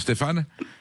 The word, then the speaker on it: Stéphane: Oui, bonjour monsieur Vegas, oui, c'est comme ça Stéphane, oui. Bonjour Stéphane. C'est la même racine patronymique, hein, je veux dire, Stéphane. C'est Stéphane? C'est une façon de dire Stéphane?